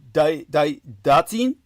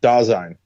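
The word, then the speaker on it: Dasein: Uh, datine. Datine. Is that right? Dine.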